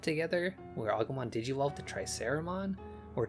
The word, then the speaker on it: Triceramon: We just had a moment together where Agumon digivolved to Triceramon, or Tricaramon as I heard it pronounced.